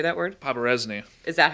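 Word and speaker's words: Poberezny: Paparesny. Is that how it's pronounced?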